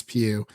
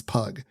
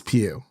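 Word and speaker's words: Pugh: first introduced to Florence Pew when she was in fighting with my family I thought her last name was pug for some reason because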